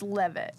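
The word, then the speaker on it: Leavitt: It's Carolyn Levette. Yep, it is. I hate how you say it like my name. It's not that. It's Levit.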